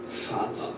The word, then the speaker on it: Vater: der Vater. The father. Das Volk, Yeah. not das Volk. You pronounce it like an F.